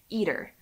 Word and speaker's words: ITER: like the main one Eater and yes that is really how it's pronounced I didn't think it was right either but I did check with some physicists friends it's it's eater and that was pretty